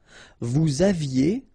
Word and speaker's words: vous aviez: Vous aviez, a Z at the end, et, aviez, and then liaison, vous aviez.